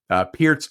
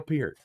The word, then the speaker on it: Peart: I know in high school, everybody was like, Neil Peart, Neil Peart, Neil Peart. Although we all mispronounced it at that time. It was always Peart, Neil Peart, Neil Peart, but it's actually Peart.